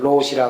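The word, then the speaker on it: 老師: 일본 발음으로 로시라 그러는데 1000개를 맞추면 로시가 될 텐데 자기는 아직 500개 뵙기는 못해서 로시 자격은 못 따고 그냥 참선을 지도할 수 있는 자격만 받았다고.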